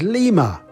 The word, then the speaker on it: lima: word for five is Lima that sounds like lima the capital of Peru five lima lima lima